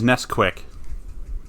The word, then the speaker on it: Nesquik: Well, chocolate you've pronounced milk, it but wrong. that's It is Nesquik.